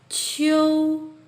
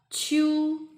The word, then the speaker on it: 秋: Remember, when there is e and u, it's pronounced as iu, not you. So this word pronounced as 秋 not chew.